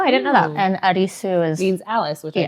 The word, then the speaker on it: Arisu: And Arisu is... Means Alice, which I just found that out. Yeah. Arisu is I don't know that either. I literally... It's literally just a Japanese pronunciation of Yeah.